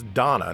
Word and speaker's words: Dana: Actually, it's Dana, not Dana, but the pronunciation in Ys games is always a little weird.